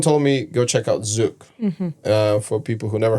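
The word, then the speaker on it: zouk: just and someone told me go check out zuk uh for people who never heard of zuk it's spelled z o u k and yeah and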